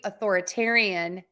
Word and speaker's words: authoritarian: beginning autocracy audacity do I hear an O correct so Authority authoritarian the beginning of that word is not stressed most of the time